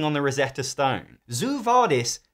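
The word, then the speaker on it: Zoo Vadis: on the Rosetta Stone Zoo vardis doesn't rhyme with quo vardis unless you pronounce the word Zoo like Zoe deel does and why does it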